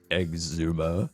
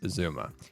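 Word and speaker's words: Xisuma: mispronounced uh I think I called him Exuma before that's right I used to call him hey Exuma it's actually just Zuma and I also think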